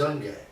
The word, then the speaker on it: Junge: I would say Junge. Youngie, yeah. That's the way I would pronounce it. Youngie.